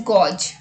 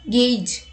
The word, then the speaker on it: gauge: Many people pronounce this word as gauge, but the correct pronunciation is gauge, meaning an instrument for